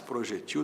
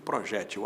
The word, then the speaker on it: projétil: As duas formas existem. Projétil paroxítona, que termina em L, com acento no E da sílaba G. Projetil sem acento, oxítona. As letras são as mesmas, o acento é que muda.